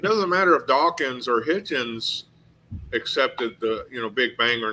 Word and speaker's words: Hitchens: community, the late Christopher Hutchins, and you even have today like Bill Hutchins? Maher. Yeah, say his name Hutchins? is Hitchens.